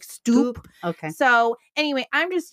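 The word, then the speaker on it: Stuppe: And actually, even in this particular pamphlet, his name is spelled S-T-U-P-P-E. So it's more like Stoop.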